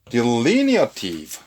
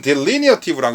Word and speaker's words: delineative: delineative. 자, 이것은 delineative라고 읽어도 좋겠고요. delineative 이렇게 읽어도 상관없습니다.